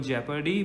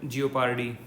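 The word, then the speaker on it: jeopardy: इसकी correct pronunciation है double जेपर्डी, बट in India we call it जियोपार्डी।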